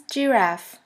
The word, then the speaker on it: Giraffe: Giraffe, Giraffe, which means giraffe. As you can see, the word Giraffe is written exactly the same way as in English, but the pronunciation is completely different.